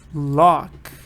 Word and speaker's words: luck: robbing a bank six with a bit of look we'll win this game ah this one is